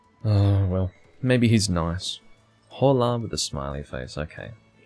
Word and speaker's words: hola: Hola with a smiley face, okay. Well, they say hola. They don't actually pronounce the H.